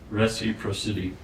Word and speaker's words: reciprocity: How do you pronounce the R? It's I've tried. Reciprocity.